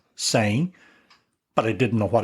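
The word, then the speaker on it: sem: knew enough Portuguese that I could pronounce the first word s e M saying but I didn't know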